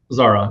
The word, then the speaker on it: Zahra: I'm pronouncing that right. I didn't check, but is it Zahra? Zahra. That's fine.